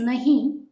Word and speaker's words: नहीं: description let's start first the correct pronunciation here is nahi written in D nagari script the script in